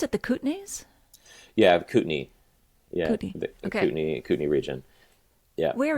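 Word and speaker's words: Kootenay: on with food and restaurants um do you pronounce it the cutney yeah cutney Cy cutney region yeah where is that uh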